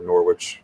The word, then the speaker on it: Norwich: Just like a lot of New England towns or and universities and everything, it's spelled some weird way, but it's pronounced like like it's a witch or Norwich.